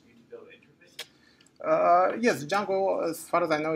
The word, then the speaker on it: Django: Yeah, it's spelled DJM. Django.